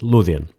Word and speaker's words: Lothian: the area which is now Lothian or as we pronounce it luian there's a suggestion that